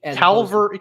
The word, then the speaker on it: Calvary: But let me make sure I get my pronunciation right. Calvary.